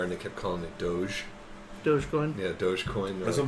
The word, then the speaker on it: Doge: one was That is the correct pronunciation of it. Doge.